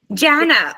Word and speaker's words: Jana: Yana or Jana Jan Jana okay okay okay beautiful my whole life i' I've said it's like Jana banana okay I like the